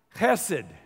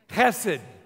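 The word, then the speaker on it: חסד: This word is a word pronounced hesed. Say it with me. Hesed. I'll write it. When you pronounce Hebrew, it sounds gross, but it's almost like a dog who's a little bit sick.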